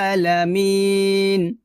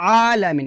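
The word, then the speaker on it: العالمين: রব রব রব্বিল আলামিন এখানে আমরা একটা ভুল করি সেটা হচ্ছে আলামিন এখানে অর্থাৎ আইন খারাজ আ এখানে আমরা হামজা উচ্চারণ করি বলি রব্বিল আলামিন বলি আলামিন এখানে আলামিন বলা যাবে না বলতে হবে এভাবে মানে আইনটাকে গলার মধ্যখান থেকে চাপ দিয়ে আপনাকে উচ্চারণ করতে হবে এভাবে ট্রাই করেন ইনশল্লাহ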